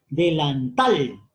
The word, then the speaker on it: delantal: Delantal. Fuerza de voz en la sílaba tal.